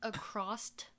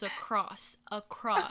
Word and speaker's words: across: And then, oh my god, Damien, he says acrost. And I'm like, it's across. Across. And he was like, across. And I'm like, there's no T in that word.